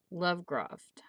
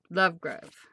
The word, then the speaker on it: Lovegrove: book number ten age of aztec by james lovegroft lovecroft lovegroft is that a g oh let me see lovegrove lovegrove said it wrong so this is a